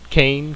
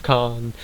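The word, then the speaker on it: Khan: could end up being KH Kane KH con yes con I got to do the shout in order to pronounce that right but uh stare Trek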